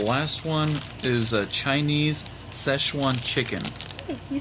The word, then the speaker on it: Szechuan: And the last one is a Chinese Szechuan chicken. Hey, you said it right. Szechuan.